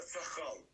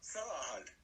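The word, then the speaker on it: Цахаль: б у Вікіпедію то там чітко написано що ізраїльці називають її на там наголос на перший склад по-перше ца по-друге там не не не х а г цага і в кінці щей м'який знак е тобто назва цагаль всього спільного із сахал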